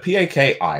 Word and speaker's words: Paki: A four-letter word, P-A-K-I. I'm going to pronounce it just for the pronunciation angle.